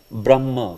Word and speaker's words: Brahma: you can see Brahma this word is not Brahma ma the ma is not before H is before Brahma Brahma ah exactly instead of saying Brahma sometimes you may hear